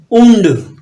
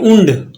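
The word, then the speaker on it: und: आपने लगाना सिर्फ लिखना आइन उंड यू एनडी उंड आइन उंड 20 है चके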